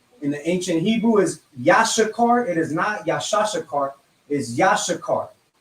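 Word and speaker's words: יששכר: Issachar in the Hebrew is Yashakar. And fake Israelites pronounce it Yashashakar. And it is not Yashashakar. It is Yashakar.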